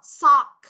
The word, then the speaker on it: sock: chú ý cho cô cái từ sock này mình có âm đuôi là gì đây âm được không sock sock nên là khi chúng ta đọc chúng ta không đọc là sóc không ha so so